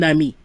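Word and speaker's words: amie: Otherwise, you leave off the E and it's a masculine friend, but it sounds the same, right?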